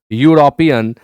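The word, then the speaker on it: European: यूरोपियन यानी pronunciation य से शुरू हो रहा है, इसलिए ए भर लीजिए।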